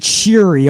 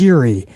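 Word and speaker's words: Syuri: several of her matches I believe she pronounces that or you pronounce it cheery almost like s h sh sheary and not like it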